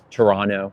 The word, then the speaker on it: Toronto: and Sammy from Toronto Toronto excuse me it's not there's no T pronounced hello Tiffany hello Dre